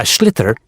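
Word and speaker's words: sliotar: And basically, you have to get this ball called a schlither. That's s L I O T A R. So, it's not spelled the way it's pronounced.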